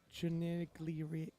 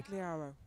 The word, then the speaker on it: Chinigliaro: 145 on the bar for Alessandra Chinigliero. Oh, I have the pronunciation written down here. Chinigliaro.